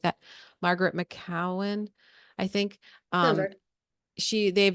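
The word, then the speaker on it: McKeown: to say her name it's is it maowen m c ke o u w n or something like that Margaret maowen I think um she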